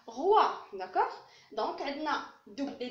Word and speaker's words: roi: Et R avec WA, ça se prononce roi.